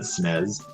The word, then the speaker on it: SNES: Did you just pronounce it SNES?